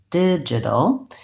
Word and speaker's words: digital: alright so did and then in my second syllable with my jaw I also have another if I'll did Jeff didja long short digital and then the another challenge with this word